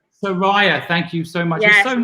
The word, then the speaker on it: Sureya: saying your name right it's pronounced saraya soraya thank you so much